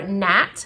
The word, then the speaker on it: gnat: For example, the right, how it has the WR, so the W is silent, or gnat, the G and N is silent.